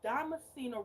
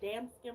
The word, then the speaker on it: Damascena: No, y'all, do y'all know I have been saying Damascena wrong this whole time? It's Damascena Rose. Y'all know I've been saying damn skin rose and it's Damascena Rose.